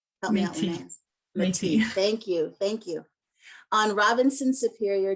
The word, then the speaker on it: Métis: territory of the Anishinaabe and I'm going to pronounce that one wrong. Help me out, Linnea. Métis.